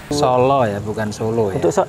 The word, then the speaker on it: Sala: Sala, sí, no Solo, ese es el original, el nombre del pueblo es Sala SALA Entonces los holandeses no pueden pronunciar Sala con fluidez, así que le dieron